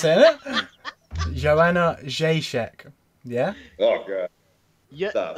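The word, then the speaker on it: Jędrzejczyk: fight of the night, which is obviously Joanna Jacek. See, I can pronounce it now, and that is how you pronounce it, isn't it? Joanna Jacek.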